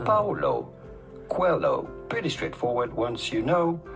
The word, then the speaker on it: Coelho: How do you go about pronouncing his name? Paulo Coelho. Quello. Paulo Coelho.